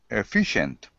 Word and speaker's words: efficient: have been very efficient efficient efficient second syllable efficient you have been very efficient very good that's it